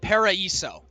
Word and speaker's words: Paraiso: I think it's pronounced Paraiso. Paraiso. Because that I specifically makes an E sound in Portuguese.